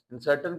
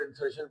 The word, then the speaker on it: insertion: उसको हम इंसर्शन का, इंसर्टन कुछ लोग पढ़ते हैं बट इंसर्शन पढ़े, प्रोनाउंसिएशन उसकी बेहतर यही है।